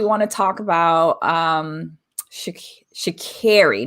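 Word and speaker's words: Sha'Carri: to talk about um shakiri not shikari because i've been pronouncing it incorrectly we want to get it correct uh so shikara we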